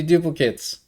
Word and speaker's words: duplicate: Depending on which part of speech it is, it could be either. I asked how Duplicate do is a you verb. pronounce it? Duplicate is a noun. So the sculptor on the right is duplicating the sculpture on the left, Mm-hmm. and the sculpture on the right is called a duplicate.